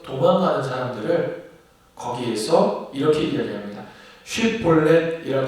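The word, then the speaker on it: 쉽볼렛: 사람이냐 하여 그가 만일 아니라 하면 그에게 이르되 쉿볼렛이라 발음하라 하여 에브라임 사람이 그렇게 바로 말하지 못하고 십볼렛이라 발음하면 길르앗 사람이 곧 그를 잡아서 요단강 나루턱에서 죽였더라.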